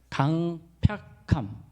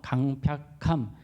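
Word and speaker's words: 강퍅함: 강팍함. 이게 좀 어려워요. 발음이. 강팍함이 아니고 강팍함이에요. 팍. 이게 괴팍할 팍.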